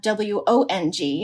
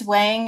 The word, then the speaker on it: Wang: you pronounce it because it's it's weighing in the western world and it's Wong in the Asian world and you know but